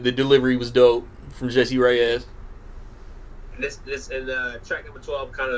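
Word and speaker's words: Jessie Reyes: Nice Guy with Jesse Ruiz. Is that how you say it? Yeah, Jesse Reyes. Reyes, yeah, my bad.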